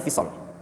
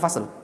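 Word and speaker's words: الفصل: Qala Ibnu Hazam fil fisal itu bacanya fisal. Qala Ibnu Hazam fil fisal. Jangan fil fasal.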